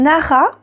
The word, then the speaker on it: Nara: ou d'une tablette donc le livre s'appelle nara donc ça s'écrit n a ra a donc c'est un livre